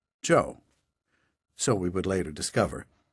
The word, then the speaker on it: Geo: less so were always signed simply quote Gio pronounced Joe so we would later discover he'd become interested